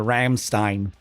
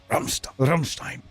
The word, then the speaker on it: Rammstein: don't want to be that guy that calls the band Ramstein. I just think, why don't you just become that person that calls it die ant word? I can't do it. I have to pronounce things phonetically in the way that they're supposed to be pronounced. I just can't do that. I can't go out like that. So, we're going to be saying Rummstein.